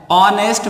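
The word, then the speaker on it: honest: ही is dash ऑनेस्ट मैन, ठीक है, H silent है यहाँ पे इसलिए हम पढ़ेंगे ऑनेस्ट। अब ऑनेस्ट कैसा साउंड निकला? ओ, ये देखिए ओ, ऑनेस्ट।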